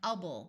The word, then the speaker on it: able: O so do doable notice that while this word by itself is able with a long a sound is as soon as we turn it into a suffix it sounds more like ubble because generally in English we don't accent or emphasize the Sounds in suffixes when sounds